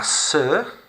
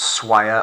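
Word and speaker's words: sœur: member staff for example so that's kind of how it sounds not swire or soil or surrey or anything like that sir la sir un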